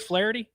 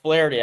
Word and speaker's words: Flaherty: a very special guest on today's program, Flity of Baseball America. Did I get the name right? Did I Did that sound good? Flity. Nailed it. Nailed it. Like Jack Flity.